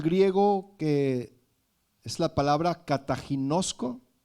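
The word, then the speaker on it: καταγινώσκω: que es la palabra cataginoso con doble K con k ta G kataginoso con cal final no también y acento en la o última Qué significa censurar reprender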